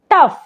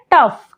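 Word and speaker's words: tough: पढ़ेंगे तो क्या पढ़ेंगे रफ टफ क्या पढ़ते हैं टफ क्यों क्योंकि यहां पर ओ और यू जो है वह कॉमिनेशन में है तो ओ को नहीं पढ़ेंगे तो क्या पढ़ेंगे टफ जैसे यहां पर है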